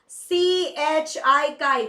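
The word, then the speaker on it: χ: Yes, it is written as X but pronounced as CHI chi.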